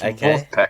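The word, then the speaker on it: Vulfpeck: It sounds like Wolfpack, but it's pronounced Wolfpack. Like you're saying it like a German.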